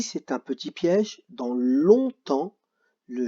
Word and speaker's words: longtemps: juste se rappeler que ici on ne dit pas longue à temps mais on dit longtemps donc maintenant on passe